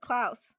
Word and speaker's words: Klaus: I'm gonna say his name wrong again. Klaus.